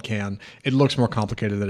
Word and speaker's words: Cannes: of can you might have thought it's like con film festival c nees which is how I pronounced it for years including on this show